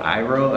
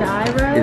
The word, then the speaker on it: Iro: It's called Iro, I guess is how you pronounce it. It's I-R-O.